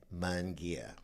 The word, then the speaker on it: Munguia: So the easy way to do this is to say M-U-N, and the next word Gia, G-I-A, Munguia. And for us folks out there who are old timers, you'll know about the Volkswagen car Munguia. That was always the easiest way to tell people how to pronounce my name.